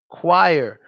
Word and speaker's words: choir: this word is choir choir that if you know the word quiet and you can say quiet you can say this word cuz it's basically